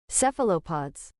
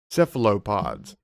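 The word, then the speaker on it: cephalopods: All right, how do you pronounce this? Is it cell sephilods? Sephil sephalopods. Seephalopods.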